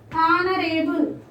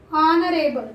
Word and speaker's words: honorable: This should be pronounced as honorable. Not honorable. So H is silent here.